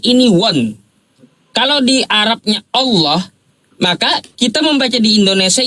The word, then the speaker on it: Allah: Ada kaidahnya apabila diawali dengan fathah atau domah maka dia tafhim Allah gitu pengucapannya bukan Allah. Bukan Allah.